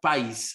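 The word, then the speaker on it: παῖς: en esta ocasión es la palabra país así como país pero sin acento en la i que en pasajes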